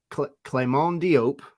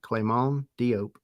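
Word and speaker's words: Clément Diop: So, yeah, Clement Diop. I'm pronouncing that the way that it was told by Atlanta United. Clement Diop. He's French.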